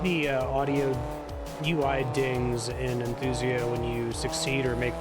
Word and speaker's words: Enthusia: You'd call enthusiasts a simulationist game. Forza is a gamified simulation. Okay, I put the emphasis on the wrong syllable or something. You're saying that Enthusia is at its core